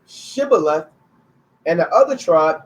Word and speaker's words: shibboleth: different they would say shibboleth and the other tribe they would say sybil and that's how they